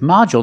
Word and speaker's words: module: have this word module with module the stress is on the first syllable so the second syllable is short modu and we see the D makes the J sound like juice and